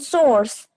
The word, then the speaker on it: source: Then source and source. No, no source. Both are having same sound. Source. Okay, source. Source. There is no R. R is silent.